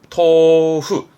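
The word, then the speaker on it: 豆腐: 발음은 토후.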